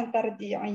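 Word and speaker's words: أن ترجعي: Ini kan domirnya anti. Jadi kalau fiil itu yang ada adaan sebelum fiil itu dibacanya kan kalau untuk domir anti nunnya hilang, tidak dibaca. Asalnya dari kata antarji'in, nah gitu ya. Iya, jadi nunnya nggak dibaca.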